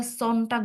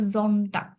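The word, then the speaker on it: Sonntag: যে ওরা জামস্টাক বলে ওরা সন্নটাক বলে না ওরা বলে জন্টাক বর্গীয় জ এর মত উচ্চারণ যেহেতু ওরা এভাবে উচ্চারণ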